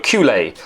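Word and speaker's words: culet: my original training was it's a French word and it's called a culee and that made sense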